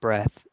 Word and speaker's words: breath: talk about the breath, that is pronounced breath, but then breathe is like a verb, breathing. So there's a difference, breathe and breath.